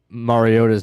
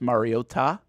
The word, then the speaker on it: Mariota: Trico and Collinssworth just decided that for 15 years we've been pronouncing uh Mariota's name wrong. And it was insane. It was every single time they put so much emphasis on the T.